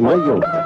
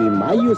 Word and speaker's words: Mallo: Para decirles, aquí donde canta el gallo, está Laboratorios Mayo. Y Mayo se escribe como gallo, L-L-O, Laboratorios Mayo.